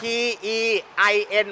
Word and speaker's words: Tein: เทียน อ่ะ งั้น กู ถาม แบบ นี้ เออ t e i n มึง อ่าน ว่า ที่ เรา จะ อะ เทียน